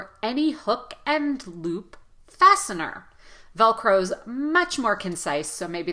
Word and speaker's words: Velcro: just to say oh it's not enough to say velcro velcro velcro you see my lips they have to release velcro Velcro velcro and I'm